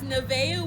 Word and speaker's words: Nevaeh: Her name is Nevaeh.